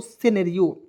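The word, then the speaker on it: scenario: एन ए आर आई ओ तो पढ़ेंगे दोस्तों सिनेरियो से ने रियो क्या पढ़ेंगे दोस्तों सिनेरियो ठीक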